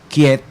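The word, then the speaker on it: Kyiv: originó en kiev verdad quiet que ahora está de modo decir porque así es como se pronuncia realmente no bueno fue el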